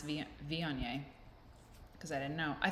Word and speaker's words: Viognier: So there's no G, Viognier. No, it's Viognier.